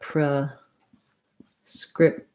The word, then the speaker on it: prescription: let's write that out pro scription i say that it has second syllable stress so i say the pre with the schwa like pra pro this t gets stopped i don't say prescript um maybe the tion